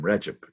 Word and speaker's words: Recep: And then the C in his first name, Recep, is pronounced like a ch, j rather.